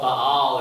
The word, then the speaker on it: Baal: this other god, who we call Baal or Baal or however you want to pronounce that.